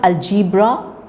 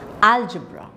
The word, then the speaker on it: algebra: appetite Bachelor botony and it is not cender when you say calendar you are again stressing the wrong syllables so it is calendar